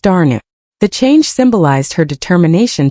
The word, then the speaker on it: Dana: As she grew, Dagmmer became Dana, pronounced Darnu.